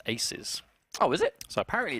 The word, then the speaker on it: 2z: even now we've been told to Z is pronounced aces oh is it so apparently it's aces versus